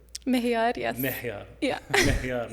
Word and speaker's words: Mohiar: Mohiar, yes.